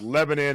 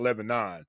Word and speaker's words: Lebanon: And, some people don't know how to pronounce it, It's Lebanon and not Lebanon.